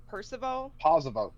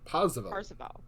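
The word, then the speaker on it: Parseval: I can't remember how to pronounce that. Percival? Parzival.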